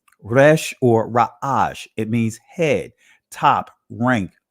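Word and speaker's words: ר: The next letter is the Ra'ash. In the Israeli language, it's pronounced Resh.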